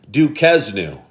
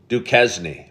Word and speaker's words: Duquesne: Evan McNamara said, most pronounce it Duquesne. But I'm saying it right, Evan, right? Duquesne.